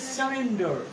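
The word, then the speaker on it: surrender: বলতো দেখি আমরা উই ইউজুয়ালি একটা ভুল একটা উচ্চারণ করি যেমন আমরা বলি স্যারেন্ডার শব্দটা বলি মাঝেমধ্যে বললেন স্যারেন্ডার আসলে মূলত শব্দটা কিন্তু স্যালেন্ডার নয় শব্দটা স্যারেন্ডার স্যারেন্ডার মানে কি আত্মসমর্পণ করে সারেন্ডার এস ইউ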